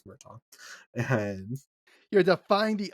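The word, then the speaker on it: Murtagh: the new book Murtaugh I know he pronounced that mer tag but it's murton and you're the find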